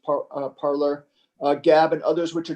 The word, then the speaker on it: Parler: Can you talk about what you see as the future of Parler or Parlay? I think it's pronounced Parler, Gab, and others, which are drawing viewers from the major platforms.